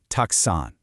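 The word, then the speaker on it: たくさん: Tuxon, pronounced tuxon.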